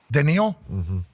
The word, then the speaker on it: Danil: promise is your name danal great card danil that's the proper pronunciation yeah okay what do